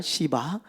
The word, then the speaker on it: 시바: 보면 누가 찾아와요 예 시바 발음을 잘해야 돼요 잘못하면 욕처럼 들립니다 시바 욕처럼 들려요 어 그런데 그의 삶을